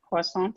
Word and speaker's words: Poissant: David James Poissant, is it? Yep. Am I pronouncing it right? Yeah. Yep, Poissant, Okay.